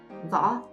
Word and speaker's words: Võ: Võ. All the last name in Vietnam has only one syllable. For example, Nguyễn, Trần, or Võ all have one syllable.